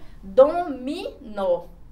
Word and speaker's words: dominó: Então, eu tenho aqui a palavra dominó. Ó, a sílaba forte está aqui na minha última sílaba. Então, ela é chamada de oxítona.